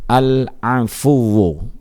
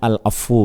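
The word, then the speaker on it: العفو: Allah Subhanahu wa ta'ala Al-Afu, ya. Terkadang kita membacanya Al-Afu gitu ya, tapi yang benar adalah Al-Afu, ya, sebagaimana dalam hadis, sebagaimana dalam firman Allah Subhanahu wa ta'ala.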